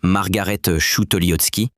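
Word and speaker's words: Margarete Schütte-Lihotzky: Then in 1926, Margarettootski, pronounced Margarettoski, designed the Frankfort kitchen for Ernst Mai's public housing program.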